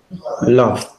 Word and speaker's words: love: Es como, por ejemplo, el verbo que, el verbo amar, todo el mundo lo pronuncia, repeat after me, Jimmy, love. Love. Pero eso no se dice así, también se dice con A corta, repeat after me, love.